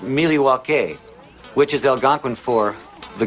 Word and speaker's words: Milwaukee: Milwaukee. Actually, it's pronounced Milywake, which is Elgangquin for the good land.